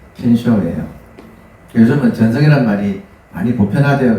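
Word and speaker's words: 見性: 켄쇼가 뭐냐면 견성을 일본말로 발음하면 켄쇼예요.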